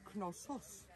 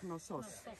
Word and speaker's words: Knossos: In Greek, it is Knossos. Knossos. Knossos. And in English, it's Knossos. And what about the city?